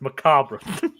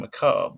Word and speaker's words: macabre: But the actual word is pronounced Macabra. Well, yeah. Well, I think it's actually Macob, but you know.